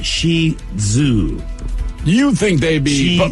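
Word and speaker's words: Shih Tzu: how about the shitzu how do you say that shitsu it's Shi Zoo you think they'd be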